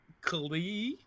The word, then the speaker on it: Keighley: In order to help them, they hired the greatest matchmakers in Europe, Keighley, the Y is silent, and Josve.